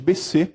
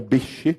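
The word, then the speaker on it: Behçet: a de células gigantes doença de BC ou bch né que é a forma mais correta de se pronunciar a poliarterite nodosa e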